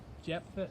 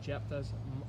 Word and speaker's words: Jephthah: the judges uh judge i think he's pronounced his name jephthah is how you pronounce his name what was his mother's